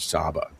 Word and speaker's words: Saba: And if you are familiar with the Queen of Sheba, Sheba is the Hebrew pronunciation of Saba.